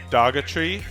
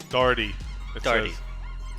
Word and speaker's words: Dougherty: pronounced that'll be easier darty darty right it's it's silent gh yup and speaking of